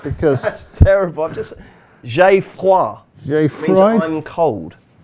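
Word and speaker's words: J'ai Froid: And in the 4:35 at Carlisle, there's a horse that I'm going to struggle to pronounce. I'm going to call it Jai Fried for Ben Case and Max Kendrick.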